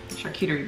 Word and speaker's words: charcuterie: Charcuterie board.